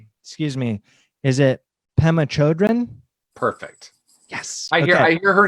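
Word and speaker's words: Pema Chödrön: out with this name excuse me is it Pema Chodron perfect yes I hear her name pronounced all different ways so whatever you say is perfect okay good so Pema Chodron puts it this way compassion is not a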